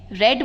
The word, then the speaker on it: read: Present tense में, शी रेड that chapter yesterday, तो ये हो जाएगा पास्ट टेंस में। पास्ट टेंस में रेड बोलेंगे, प्रेजेंट टेंस में रीड बोलेंगे, लेकिन दोनों की स्पेलिंग्स सेम रहेगी बेटा, ऑल राइट।